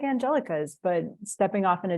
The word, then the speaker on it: Angelica: I'm Angelica, or if you're comfortable with the Spanish pronunciation, Angelica works too.